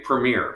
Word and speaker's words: premiere: the dinner for the premiere which was a royal you know Command Performance as they're called a Premiere as you pronounce them in America or Premier but we say premere Premiere you do the